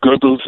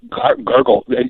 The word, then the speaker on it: Goebbels: and Joseph Goebbels actually his name should be pronounced Goebbels not gurgel Joseph al Sharpton pronounces his name is gurgle in other words and you think of somebody with something in the back of their mouth kind of gargling a